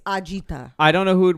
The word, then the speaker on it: agita: that yes it's a-g-i-t-a-gi if you were to say it correctly it's ajita I don't know who